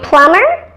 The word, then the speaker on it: plumber: and plumber or Plumbing I know that the Envy is not actually at the end of those last two words but you can add the ending ER or ing here without changing the pronunciation so the B is still silent in those words here's a crazy